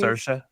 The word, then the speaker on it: Saoirse: Like, trust me, I have heard the entire spectrum of how you could probably mispronounce that name. Again, and I was like, guys, it's Saoirse.